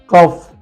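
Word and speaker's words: cough: है फ पढ़ना है let's see some example लाफ टफ कफ एंड रफ चारों स्पेलिंग देखिए लाफ टफ कफ रफ ये सा चारों स्पेलिंग में यू के बाद जी एच है यू साइलेंट है और जीएच को हम फ पढ़ रहे हैं लाफ टफ कफ एंड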